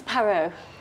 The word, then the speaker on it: Parrot: My name is Miss Parro. Miss Parrot, like the bird. No, no, no. Not Not Parrot. P A R R O T. Yes. But it's pronounced parro. The T is silent.